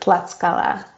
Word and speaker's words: Tlaxcala: You pronounce it Tlaxcala.